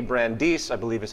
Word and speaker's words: Brandeis: Brandeis, I believe is how you pronunciate it, we can have democracy in this